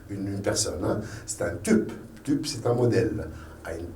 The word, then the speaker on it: Typ: Et ça se prononce comme le U française. Donc, ce mot, on la prononce tup.